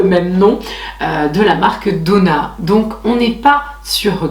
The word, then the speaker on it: Donna: la prononcer, mais c'est Donna. Je pensais que c'était Odona, mais en fait non, c'est Donna avec 2D, O, 2NA.